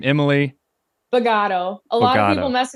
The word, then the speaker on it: Bogaudo: we've got so say your last name emily bagato a lot of people mess it up i